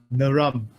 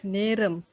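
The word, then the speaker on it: நேரம்: Naram. Did I pronounce it correctly? I don't want to offend anyone tonight before even starting the session. Naram, is that correct? Okay. Hakka Tamil is Neram. Neram. Yes.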